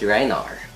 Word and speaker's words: Rhinar: Am I pronouncing it right? Reinar? Yes, Reinar.